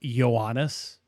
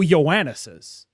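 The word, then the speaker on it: Ιωάννης: Like the they will translate as like John so and so and the actual way they would have pronounced it is like Yannis.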